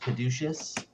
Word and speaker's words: caduceus: a uh a gold uh i think it's pronounced caduceus with the tiny emeralds for eyes i have